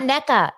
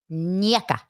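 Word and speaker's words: Nneka: No, it's not NECA. It's Nieka.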